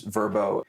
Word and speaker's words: Vrbo: It doesn't matter if you use Airbnb or use HomeAway or use Verbo. If we don't have... I like how you just pronounced it using the new the new pronunciation.